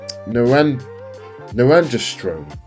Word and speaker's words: norandrosterone: It's called norandrosterone. Norandrosterone, like testosterone, but norandrosterone.